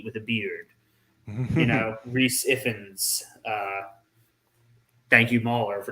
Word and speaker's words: Rhys Ifans: pronounce that um yeah I spent the entire time thinking it was pronounced the same way that uh Ray fines pronounced his name great finds yeah maybe